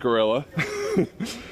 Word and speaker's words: Guerilla: it up the field so it is pronounced gorilla thank you BD for letting us know it's like gorilla Warfare okay for my Spanish